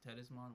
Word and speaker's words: Thetismon: Yeah, so that's how we got Tedismon now, although it's spelled, at least from what I was seeing in the sub, is Tedismon, but it's Tedismon, whatever.